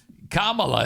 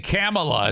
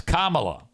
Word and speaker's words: Kamala: camea no kaming camea Kamala is how you say you keep saying you keep saying camela it's Kamala camela comrade she's a